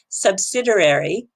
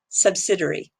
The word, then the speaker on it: subsidiary: There are two ways to say it officially if you go onto the internet and listen to the two pronunciations. One is the American way, subsidiary, or you can say it the British way, subsidiary.